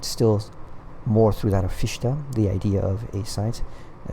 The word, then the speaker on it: Fichte: saying like, for those of you who say Fichte, you know, he's like, actually in German that's kind of the word for shit. You know, the actual pronunciation is Fichte.